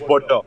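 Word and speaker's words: Boudreaux: And then there was this Parker Bordeaux. I think that's how you pronounce his last name. I think so. He was I don't supposed. know. It is Bordeaux.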